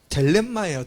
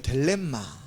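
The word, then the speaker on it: θέλημα: 자, 이 뜻이라는 이 단어가요, 발음이 참 특이해요. 델렘마예요. 델렘마. 헬라어로 델렘마.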